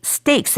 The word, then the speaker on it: stakes: 그래서 high stakes 할 때 이 stake는요 STAKES로 쓰게 돼요. 그래서 이게 우리가 beef steak 할 때 그 스테이크하고 똑같은 발음이긴 하지만 그러나 스펠링은 완전히 다르고 의미도 다릅니다.